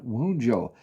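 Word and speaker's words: Wunjo: up too apparently because I was mispronouncing this as wound here. Uh that's very interesting. These are all shuffled in between. But um regardless, you're clarified with the rune of clarity here in Wujo.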